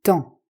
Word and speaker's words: temps: N'oublie pas de ne pas prononcer le P et le S, c'est le temps.